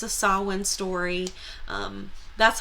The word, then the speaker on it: Samhain: story called the troll tear and it's a sawwin story that's how you pronounce that word um i mean you might